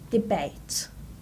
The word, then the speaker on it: debate: The next word is debate. Debate. The stress is on the second syllable.